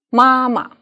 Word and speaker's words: 妈妈: For example, 妈妈, ma is the 1st tone.